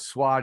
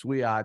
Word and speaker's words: Swiat: You have to hit every letter with it's not Swat, it's Swiat. So I think they call him Sweet.